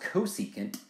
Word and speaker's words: cosecant: it's the reciprocal of cosine and this is pronounced cosecant it's the reciprocal of sine here's our second